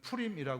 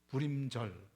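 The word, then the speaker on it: פורים: 절이라는 겁니다 부림절 예 원래 오리지널 발음으로는 프림이 하는데 부림절 예 이스라엘의대 절기가 있습니다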